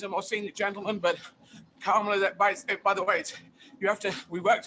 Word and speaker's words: Kamala: more senior gentleman, but Kamala, by the way, we worked on this. You have to emphasize the first syllable of her name. It's Kamala.